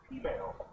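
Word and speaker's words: peameal: Also, these are called, it's spelled P-E-A-M-E-L, but they pronounce it female here.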